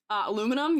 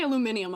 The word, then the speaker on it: aluminum: Aluminum? Yeah, I don't say aluminium. I'm not British.